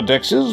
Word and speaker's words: DEX: lesson brought to you by reimagine 2021 Dex Dex is a pro pronounced acronym that stands for decentralized exchange unlike